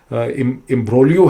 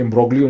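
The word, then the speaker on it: imbroglio: वस्ता का जो ये इम्ब्रोलियो है, बड़ी कॉम्प्लेक्स किस्म की जो सिचुएशन होती है उसको इम्ब्रोलियो कहते हैं। स्पेलिंग में ये इम्ब्रोग्लियो लगता है, लेकिन ये इम्ब्रोग्लियो नहीं है, इम्ब्रोलियो है।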